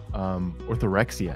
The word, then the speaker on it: orthorexia: very much about it, how would you describe orthorexia? Am I pronouncing that even correctly?